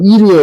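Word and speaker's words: עיר: 가인이 성을 쌓고 할 때 성이 히브리어로 이르예요. 이르. 발음을 이르라고 하죠.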